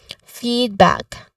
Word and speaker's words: feedback: Feedback, the stress is on the first syllable, feed. This has a long E sound. Okay. Feedback. All right.